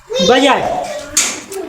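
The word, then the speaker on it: budget: बी ई डी जी E double E टी बजट ठीक है बी ई डी G double E टी यहां बजट file कहां है D silent है ना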